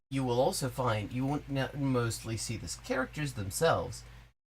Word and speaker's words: 원: And indeed, n is pronounced won.